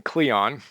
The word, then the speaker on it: Kleon: to be chatting with Austin Cleon rhymes with neon who wrote two great